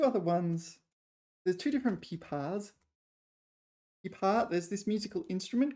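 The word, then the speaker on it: 琵琶: Yeah, and the pronunciation is pipa.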